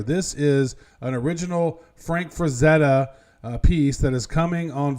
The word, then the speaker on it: Frazetta: Frazzetti? How do you say it? Frazetta.